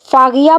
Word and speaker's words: Faghiya: अगला नाम है दोस्तों फागिया। फागिया यहाँ पे है की आवाज निकलती है दोस्तों। फागिया बहुत प्यारा नाम है।